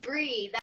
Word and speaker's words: Brea: right we're probably not it's Bree that's what I go by Breathe okay yeah thanks